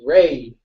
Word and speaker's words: Ray: black crter guy hello Ry how you dude or is it I hope it's no it's Ray oh I'm sorry I